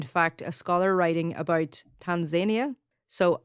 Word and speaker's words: Tanzania: In fact, a scholar writing about Tanzania, so I would always pronounce this as Tanzania. I work with people from Kenya and they pronounce it as Tanzania, and they reckon that that's the way it's supposed to be pronounced. Okay. So take it up with the Kenyans. Because I said Tanzania and they're like, no, it's Tanzania.